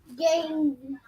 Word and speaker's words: game: And the E is silent. There's an E at the end. It's silent. Okay.